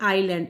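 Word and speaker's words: island: उसके बाद में है ये आइलैंड, इसमें हम इसको I और S को इजलैंड नहीं पढ़ते, आइलैंड पढ़ते हैं। तो इसमें S साइलेंट हो गया।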